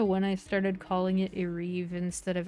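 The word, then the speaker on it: Ereb: I'm gonna go back to Areve right quick. I don't know when I started calling it Areve instead of Areb.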